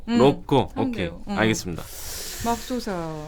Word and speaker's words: 로꼬: 그럴 때는 코하고 꼬 발음 중간 정도로 하면 돼요. 로꼬.